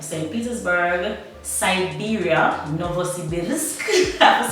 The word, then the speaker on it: Novosibirsk: Petersburg, Siberia, Novosibirsk, I have to say it properly, Rostov-on-Don.